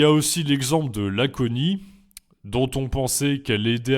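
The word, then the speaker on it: aconit: Et il y a aussi l'exemple de l'aconie, dont on pensait qu'elle aidait à guérir les maux. Ça s'écrit A-C-O-N-I-T, il y a un T à la fin.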